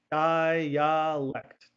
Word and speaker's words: dialect: Make sure you have all the syllables here, okay? Dialect, dialect.